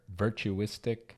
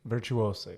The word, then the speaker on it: virtuosic: are based out of Texas known for their virtuistic virtuosic how do you say it virtuosic virtuosic that's it virtuosic guitar playing yeah they're a